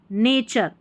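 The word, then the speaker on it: nature: अब यहां पर है ने और चर। नेचर। अब यहां पर टू स्लेबल है। देखा जाए तो यहां देखिए ने च र ऐसे नहीं करेंगे। ने चर को साथ में ले लेंगे।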